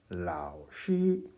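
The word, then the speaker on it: 老师: 요 발음에 좀 유의했으면 좋겠습니다. 시가 아니라 쉬 하는 거죠. 그 sh 발음은 이제 r을 발음할 때의 혀 모양을 유지한 채 내는 시옷이다. 응? r이라고 이제 입 안에서 혀의 모양을 만들어 보세요. 그 상태에서 시옷 발음을 하는 거예요. 그러면 쉬 이렇게 돼요.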